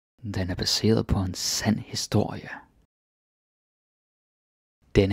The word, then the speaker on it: baseret: And please pay attention with the pronunciation here, so you don't say baseret, like I see this sometimes with my students. They sort of contract it, like seer, like it's just one syllable, but it's not.